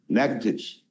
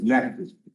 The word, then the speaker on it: Natchitoches: I've Natchitoches. I've been mispronouncing I county. know, Natchitoches.